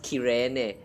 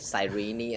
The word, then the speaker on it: Cyrene: English VAs, they actually address this name as Cyrene. I'm like, what the fuck? It was Cyrene for me until the Japanese pronunciation says Kirene, and then I'm trying to get used to Kirene, and then I heard the English version is actually like Cyrene.